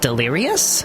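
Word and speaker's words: Delirious?: band delirious yes and they're pronounced delirious because there's a question mark in their name oh that's clever so when you say their name it's like you're asking a question it's like hey Dee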